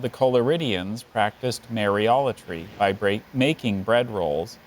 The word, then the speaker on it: mariolatry: do it in my own speech but it's mariolatory or may reality okay mariology can I have